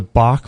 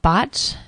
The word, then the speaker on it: Bach: and they're called the bach flour Essences I think they're actually pronounced bot but it's spelled Bach b a c h flow so we'll put a L this pretty amazing stuff botch orach FL Essences and